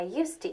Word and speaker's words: used to: to with a D but we don't pronounce the D listen I used to eat meat we make